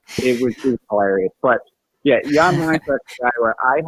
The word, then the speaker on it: Jan Mysak: and this year, I awarded to a player named, the real way you pronounce his name is Jan Mysak, but when he came over to the OHL and they pronounced it Jan Mysak.